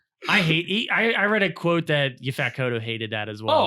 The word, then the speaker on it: Yaphet Kotto: I read a quote that Yaphet Kotto hated that as well.